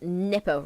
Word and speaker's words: Dnepr: It was launched aboard the, I think it's pronounced NEPR rocket. It's spelled DNEPR, and I'm pretty sure the D is silent, by Cosmotraz, a joint space company.